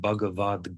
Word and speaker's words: Bhagavad: gar means song gar when you combine bhagavat with G there is what's called Sunday a list of joining principles that transforms the hard T to a soft G and that's how we get Bhagavad G the the Gita begins with the G the bhavat ends with the T and that turns the T to a d next slide please well